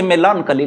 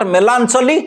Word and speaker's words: melancholy: look she has a Melancholy look this is not melano this is not melano this is melancholy these are the usable